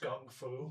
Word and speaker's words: gun fu: It's pronounced Gung Fu. Gun fu.